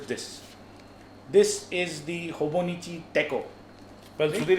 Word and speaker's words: Techo: So Hobonichi Techo.